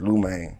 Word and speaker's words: Liu Maine: They said it wrong. It was like, it stands for acronym like Live It Up. Oh, So that's dope. Oh, that's dope. So Live It Up Maine, but I said it's Liu Maine. Yeah, cause how you spell it is different too. Yeah. So you normally you think of Liu Maine, you think of Lou Yeah. instead of Liu.